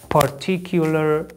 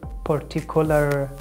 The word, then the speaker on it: particular: These pronunciations are wrong. The first syllable pronounced like per, per, per, like predict, predict, per, per. The second syllable t, t, per, t. And the last one, color, color, particular, particular. And the stress in this word is on T, T, particular, particular.